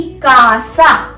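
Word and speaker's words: casa: सी को कैसे प्रोनाउंस करते हैं हम? से या के, दो तरीके से हो सकता है सी, जैसे कि कासा, कासा, या फिर सिएलो, सिएलो।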